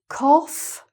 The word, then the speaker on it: cough: So: "cough" and "trough", that's like the "off", "off" sound. So, "cough", "cough", and a "trough" is something that a pig eats out of...